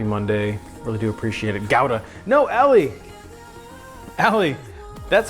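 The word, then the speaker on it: Gouda: on but he said it's actually pronounced gowda which I don't like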